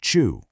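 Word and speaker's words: ちゅう: Now shift over to the Japanese anomi, it is pronounced chu.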